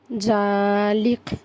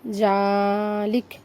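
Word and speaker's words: كذلك: লা কবলা আফিনা কবলা জালিক জালিক এখানে জাল জবর জাল লাম জের কাফ জবর কা আছে কা হবে না ওটা উচ্চারণ হবে ক জালেক ক জালিক এখানে থামছে সেজন্য এখানে জালিকা নয় জালিক হবে জালিক জালিক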